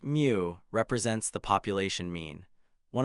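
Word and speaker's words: μ: The Greek letter mu pronounced mu represents the population mean.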